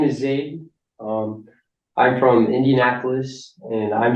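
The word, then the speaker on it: Zayd: زید Zaid. یا اسمشان زید هستن یعنی ریشه عربی دارن Americans always butcher these names. اوکی یا Zaid.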